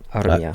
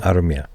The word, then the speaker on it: Armia: I do like Joel Armia. Armia. Shout out to all our Finnish viewers for pronouncing that correctly.